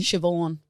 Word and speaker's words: Siobhan: Siobhan. Spelt like Cyberhand.